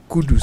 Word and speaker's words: Kudus: more kudus it's Kudos even the footballers name too Kudos oh but his is kudus kud please let's you